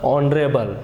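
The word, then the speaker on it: honourable: क्योंकि यहाँ पढ़ा जा रहा ऑनेस्ट और यहाँ पढ़ा जा रहा ऑनरेबल, ए साइलेंट है, इसलिए एन का प्रयोग किया जा रहा है।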